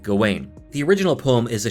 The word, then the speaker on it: Gawain: and the green knight there are several interpretations of the pronunciation of gawain's name and in the film they tend to go with gawin in this video i'll go with gawain the original poem is